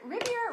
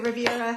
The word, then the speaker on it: Rivera: here with Sarah do is it Rivier or Rivera Rivera Rivera okay I've been saying it right not like the Riviera no not r i get it all the time but Rivera yeah R yes okay so